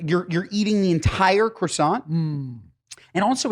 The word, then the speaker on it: croissant: now do you say croissant or Quant I say croissant but like that's just cuz I'm lazy I know I'm supposed to say croissant but it's also too much I look so lame my wife kills me for saying quason she kills me as